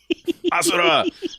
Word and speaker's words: Asura: Asura's Asura. That's actually how they say it in the game.